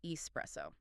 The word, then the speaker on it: espresso: It is pronounced espresso. Okay, I have to stop you there because I hear people say it differently all the time. I hear people say espresso with an X sound.